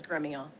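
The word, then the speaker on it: Gremillion: Did I pronounce that correctly, Ms. Gramillion? It's the Texas pronunciation. Well, you go ahead and give me the pronunciation. The correct pronunciation is Gremio.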